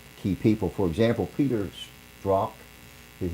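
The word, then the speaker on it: Strzok: husbands of the key people for example Peters drop his name is pronounced drop lunge with soft it's STR Z okay his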